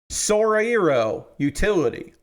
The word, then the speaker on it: Sorairo Utility: talk about sorairo utility I have learned how to say the name of this anime Soro utility is how I'm supposed to pronounce Soro utility will I remember that after today hopefully I will be able to say Sora ero utility uh if you're not